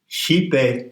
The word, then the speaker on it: Xipe: It's spelled Xipe because the X in transliteration of the Nahuatl is a SH sound. Xipe Totek.